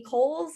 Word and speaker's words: Coles: You can find me at Not So Funny on any social media platform, or Coles, and that's Coles spelled like bowls with a C.